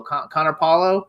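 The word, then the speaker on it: Connor Paolo: So, Connor Po, how do you pronounce it? Paulo Connor Paulo.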